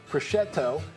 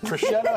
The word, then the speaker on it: prosciutto: Dry-cured ham, prosciutto, and country ham can be safely... What did you just call that? Prosciutto?